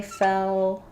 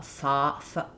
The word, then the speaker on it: fell: notice a problem, like if you're trying to say fell or shell and it's coming out like um uh foul foul um it may be that you're opening too far and I think um it it's probably partially because of these L's.